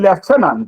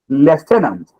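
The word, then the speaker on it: lieutenant: are putting you are putting left tenant and there's some f that is there's some spiritual F you have introduced meanwhile there's no F there Le tenant and that is that is a right pronunciation so all these words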